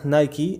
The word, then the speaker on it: Nike: Le nom de la marque Nike, qui se prononce originellement Nike, est inspiré de ce qui est appelé la déesse grecque de la victoire, Nike ou Nike.